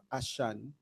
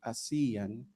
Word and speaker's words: ASEAN: uh I'm tempted to use the word asan but uh I think uh to be faithful with uh how it is pronounced by our colleagues uh in Southeast Asia. So I should say ashan ashan in Southeast Asia a cultural region.